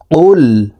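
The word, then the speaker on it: قُلْ: পেশ কুল আমরা অনেকেই কুল পড়ে থাকি কফ লাম পেশ কুল পড়ে থাকি প্রিয় দর্শক দেখুন এই কফ হরফের উচ্চারণ জিহ্বার গোড়া তার বরাবর উপরের তালুর সঙ্গে লাগাইয়া উচ্চারণ করে পড়তে হবে কফ লাম পেশ কুল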